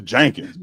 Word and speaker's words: Jenkins: It's Jenkins. Jenkins. She said, "No, it's with an E." I said, "Yeah, but it's pronounced with an A. It's Jenkins."